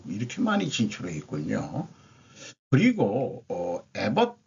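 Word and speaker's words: Abbott: 그리고 에벗 주지사인데 에버트라고도 발음을 합니다. 에버트라고 발음하기도 하고 텍사스는 국내외적으로 AI 리더가 되기 위해 다양한 전략을 준비하고 있다.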